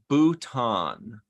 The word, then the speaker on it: Bhutan: about wrestling okay the way to pronounce it according to Google is Bhutan you're right Emery good